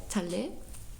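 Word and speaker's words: טלה: Yeah, Taleh.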